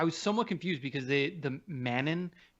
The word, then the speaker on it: Manon: You gotta say it all French, like how Fairuza Balk says in this movie. It's like Manon. Manon.